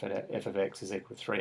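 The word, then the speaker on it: f(x): and this part here we just refer to that or pronounce it as f of x so we say f of x is equal to 3x take 4.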